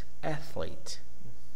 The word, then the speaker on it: athlete: Is the primary accent, the first syllable. Ath. The second one is the minor stress. Athlete. Major stress, minor stress.